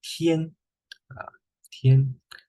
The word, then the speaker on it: 天: Okay, its pronunciation is a flat tone. 天, 天.